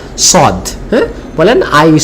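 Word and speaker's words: ص: এটার ক্ষেত্রে মুখটা একটু গোল করতে হবে, হ্যাঁ, যাতে সাউন্ডটা মোটা হয়, এবং সদের সাউন্ডটা জবর দিয়ে আমাদের অধ্বনি করতে হবে।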